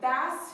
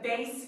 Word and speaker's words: bass: know what homonyms are homonyms are words that have the same spelling but different pronunciations and different definitions let's look at an example i enjoy bass fishing and playing the bass guitar can you hear